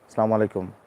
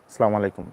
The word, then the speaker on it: আসসালামু আলাইকুম: সালামু আলাইকুম। আসসালামু আলাইকুম। এইরকম করি। এরকম করবো না। কারণ এরকম করলে অর্থ নষ্ট হয়ে যাবে।